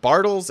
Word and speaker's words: Bartles: and I'm sorry, but it's Crystal Bartles. That is what the Bartles is what the internet told me. That is how it's pronounced, and if you.